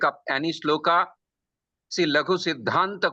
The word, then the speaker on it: Siddhanta: But Laghu Siddhanta, C is choti iki matra. Still, because there is da and dha conjoint letter, it will be Siddhanta. Boliye? Siddhanta.